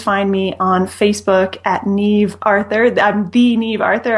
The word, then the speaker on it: Niamh: me on Facebook at Neeve Arthur I'm the ne Arthur on Facebook NE is spelled n a MH awesome well thanks for